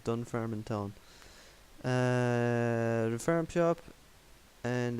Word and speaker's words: Dunfermline: And Dunfarm Town, say no more. Okay. Dunfermline Town, I pronounced it wrong. Dunfermline Town.